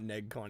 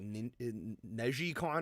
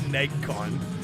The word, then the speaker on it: NeGcon: Oh, also I think it's it's not negcon, it's like neicon or something. I don't I don't know how you pronounce it. I've always said negon. All right.